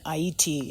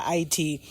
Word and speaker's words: Haiti: We just want to send our prayers, our solidarity, our revolutionary vibes to our brothers and sisters in Haiti. Is that how they pronounce it? Yeah, Haiti.